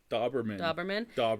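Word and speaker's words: Dauberman: before we forget, I'm going to say this name wrong. Gary Doberman or Doberman? Doberman.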